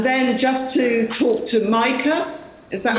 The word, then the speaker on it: Maaike: And then just to talk to Maaike, is that how you say it? Thank you, Lette Vos. Yes, Maaike.